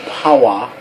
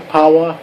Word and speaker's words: Pawa: Matthew Pawa. Okay. P-A-W-A. I don't know how else to pronounce that.